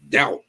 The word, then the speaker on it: doubt: Doubt. Why's the B in there?